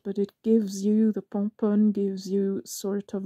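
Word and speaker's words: Pomponne: Actually, it's called Pompon. It's spelled P-O-M-P-O-N-N-E, Pomponi in English, but it's French.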